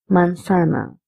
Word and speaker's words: manzana: You can also call this manzana because Z's pronunciation is S also and Th also.